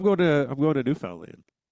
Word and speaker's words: Newfoundland: Newfoundland is how they pronounce it. They're very uh New Finland. Newfoundland. Yeah. But they say land, not Lond.